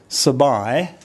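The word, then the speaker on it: สบาย: And if I get Pom to write sabai, the second syllable uses that long I. So I'll get her to pronounce it. Sabai, sabai, sabai.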